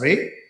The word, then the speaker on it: Ray: It's pronounced as Ray, written with an accent on the E, a small typographic mark that does what the brand intends to do, which is catch the light.